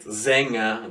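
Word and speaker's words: Sänger: have for example see i don't pronounce are quite there it's somewhat of an ah so spiela or um and for both here spiela and zenger the singer the e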